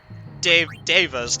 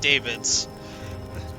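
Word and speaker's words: Daeva: Devas, not Davids. Yeah, they're called Devas. It's spelled D-A-E-V-A, I think. Yes, that is correct. Yeah. They're not called Davids.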